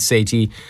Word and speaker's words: Sethi: me again I'm Sati uh I'm sa I've been pronouncing it sethy all wrong it's like say the letter T that's the way to say it uh basically basically I'm